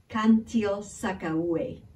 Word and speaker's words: Cantil-Sakauye: oh by the way her last name is cantil-sakauye thank you so much for watching and please